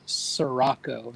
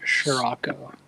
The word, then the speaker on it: Sirocco: His name is pronounced Sirocco, not Scirocco.